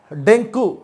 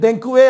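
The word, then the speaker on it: dengue: அடுத்து பாருங்க, ஒரு ஃபேட்டல் டிசீஸ், அதாவது உயிர்கொல்லி நோய், டெங்கு. இது டெங்குவே அல்ல, டெங்கி, டெங்கி. இதுதான் கரெக்டான உச்சரிப்பு.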